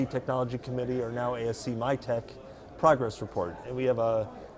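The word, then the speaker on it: MITC: to be MIT C I understand pronounced my tech my tech my take so it's acronym City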